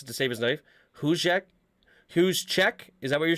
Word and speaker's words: Juszczyk: Juszczyk? Is that what you're saying? It's like, it's got to be more of a ch sound. Juszczyk.